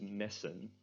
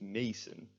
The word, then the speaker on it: messen: We need to preserve the vowel sound of and we do this by having two S's after the E. If we only had one E, it would be pronounced mason, because then it would be tense.